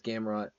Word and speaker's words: Gamrot: I know it's Gamrot.